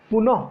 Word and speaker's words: পুনঃ: পুনঃ কেন বললাম, এখানে বিসর্গটা উচ্চারণ করলাম, এই জন্য পুনঃ বললাম। পুনঃ যোগ জন্ম, রটা উঠে গেছে, র উঠে গিয়ে বিসর্গ হয়ে যাবে, এই হচ্ছে রজাত সন্ধি। উচ্চারণটা একটু জোর দিয়ে বলতে হবে, পুনঃ বলতে হবে।